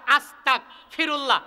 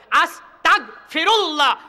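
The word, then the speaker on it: أستغفر الله: বাংলাতে বলি সরেয়া দন্তের স, তয়াকার কতাক, আস্তাক ফিরুল্লাহ। পড়েন কি পড়েন না? আর সঠিক উচ্চারণ হবে কি? হামজা সিন যাবর আস, তা গইন যাবর তাক, আস তাক। অর্থ হবে আমি ক্ষমা চাচ্ছি আল্লাহর কাছে। আস্তাগফিরুল্লাহ, আমি ক্ষমা চাচ্ছি কার কাছে?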